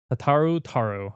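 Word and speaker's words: Tataru Taru: Um on on some really specific decks and that is Tataro Taro.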